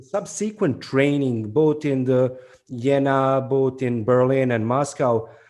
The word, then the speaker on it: Jena: Yeah, basically, it's Jena. It's German.